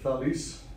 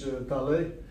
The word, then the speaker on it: Thales: Thales, which in the Greek is pronounced Thales, in French Thales, or Thales.